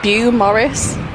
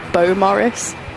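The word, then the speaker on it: Beaumaris: We always used to call it Bew Morris, and then somebody said it's actually called Bo Morris.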